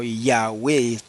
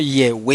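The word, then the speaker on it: Yahweh: pronunciar el nombre sagrado se pronunciaba ese nombre como iya wave y no yegua y en el caso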